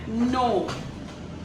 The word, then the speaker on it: know: इसमें क्या है, हम के को प्रोनाउंस नहीं करते, के का हम उसका प्रोनाउंसिएशन नहीं करते, के साइलेंट है, मतलब के का कोई प्रोनाउंसिएशन नहीं है, सिर्फ नो, N-O-W, नो, पर इसका स्पेलिंग आएगा K-N-O-W. Okay, so this is silent के वर्ड.